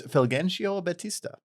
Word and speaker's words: Fulgencio Batista: I can't pronounce that name. Yeah, I can't. It's Fulgencio Batista.